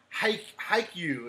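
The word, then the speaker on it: Haikyuu: a cup it is a water bottle ah hike hike you is how you pronounce it there it is so I was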